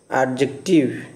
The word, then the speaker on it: adjective: The word adjective has 3 syllables: adjective. The stress on first syllable, not in the second syllable. You see the slide. The pronunciation is adjective, adjective.